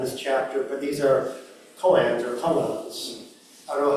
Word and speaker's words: koan: So in Japanese it's koan, K-O-A-N, but in Korean it's kongan, K-O-N-G-A-N. Same thing.